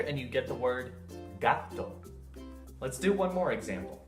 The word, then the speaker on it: gato: Put it all together and you get the word gato. Let's do one more example. The Spanish word meaning apple is spelled M-A-N-Z-A-N-A.